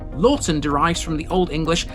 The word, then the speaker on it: Laughton: Lorton derives from the old English leakon meaning vegetable